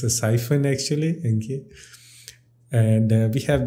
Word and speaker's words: Psiphon: have this psych okay p is silent okay it's a siphon vpn not psi phone i used to call it a ps iphone but it's a siphon actually okay and we